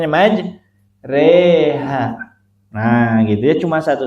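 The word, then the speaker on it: مجراها: Cuma satu aja Bu ya, di riwayat Hafs an Asim cuma satu majreha. Itu dibacanya majreha.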